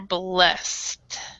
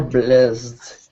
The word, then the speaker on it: blessed: English, it's become more blessed. Become more blessed. Yeah, so this word right here, this letter right here, is actually not pronounced. So it's become more blessed.